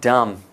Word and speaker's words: dumb: One note, the word dumb, it's not a nice word.